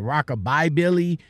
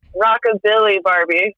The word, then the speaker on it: Rockabilly Barbie: I know I said Rockabye Billy, but it's Rockababy Billy, wasn't it? No. Rockabilly Barbie.